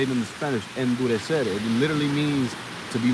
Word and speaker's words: endurecer: And that's how you say it in the Spanish, endurecer.